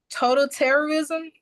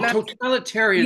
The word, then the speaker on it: totalitarianism: Um total terrorism. Oh, totalitarianism. No, that's how you say it.